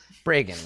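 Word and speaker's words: Bregan: according to the adventure it's the brigand earth break breagan rhymes with reagan yes ronald the break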